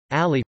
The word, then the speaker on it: Ali: Ali, pronounced Ali, the 15th of September 601 to the